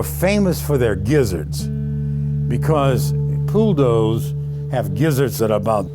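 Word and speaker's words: poule d'eau: Pool dough, which is that's how it's pronounced correctly in French, has been bastardized to become a pool doux.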